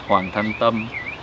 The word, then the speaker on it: Hoang: flat Northern accent so when I say my name it's hang uh if I were to be from the south I'd have a little bit of more of a uh uh twang to big or if